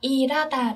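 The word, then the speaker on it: 일하다: Ở đây mình đọc là irata đúng không ạ? Tại vì âm hiếp, chữ hờ là một âm rất nhẹ, cho nên nó thường có xu hướng bị âm khác nối lên.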